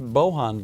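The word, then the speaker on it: Bolgen: about the interview with, I'm told it's pronounced Bohan Vargas. I always pronounced it Bolgan Vargas, even when I interviewed him.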